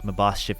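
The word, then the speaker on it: Maschiff: then let's see we've got got our masked my boss ship is how you pronounce it uh and then we have a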